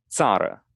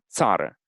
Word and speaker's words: țară: The word for country is țară. Sada. Yeah, țară.